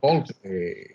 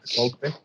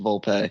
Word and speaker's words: Volpe: We have here Volpe. What's going on? What's going on? That's how you say it, Volpe.